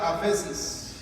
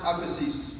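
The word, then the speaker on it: ἄφεσις: viene del griego de una palabra que se pronuncia aphesis, this word comes from a Greek word that is pronounced aphesis, que significa libertad.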